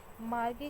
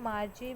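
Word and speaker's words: Margie: मार्गी को हम मार्जी भी प्रोनाउंस करते हैं। तो आप कुछ भी प्रोनाउंस कर सकते हैं। मार्गी भी, मार्जी भी।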